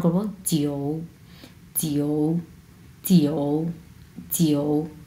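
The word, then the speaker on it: 九: সো আমরা 3 number tone কীভাবে উচ্চারণ করবো, জিও, জিও, জিও, জিও, জিউ, জিউ, জিউ বলতে কোনো ওয়ার্ড নেই, জিউ, অনেকে জিউ জিউ বলে, হ্যাঁ, জিউ না, জিও, জিও। এইরকম উচ্চারণ করতে হবে, অ্যাকচুয়াল উচ্চারণ কিন্তু জিও।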